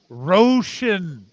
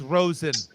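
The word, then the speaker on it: Rosin: thought you said bye first of all everyone knows r-o-s-i-n doesn't make it roshan for the name of the love of god it's rosen no he can go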